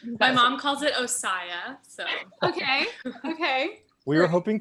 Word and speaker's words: OSSIA: Well, I've just been pronouncing it the Southern way, which is like Ossia, like see ya at the opera house, Like my mom calls it Ossia.